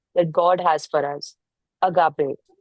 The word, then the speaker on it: agape: Agape. Pronounced agape is what Jesus demonstrated on the cross